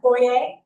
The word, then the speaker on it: Boyez: Boyer. It's okay. Okay. Yes. Boyer, really? Yeah, supposedly I'm French. I don't really know if it's true. It's It's supposed to be a silent Z.